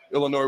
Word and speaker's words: Illinois: Exavier I love Xavier Illinois with the S is silent I do not have